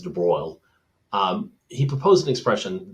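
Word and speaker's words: de Broglie: so in 1924 um de BR is how you pronounce that it's not Dei but it's de BR um he proposed an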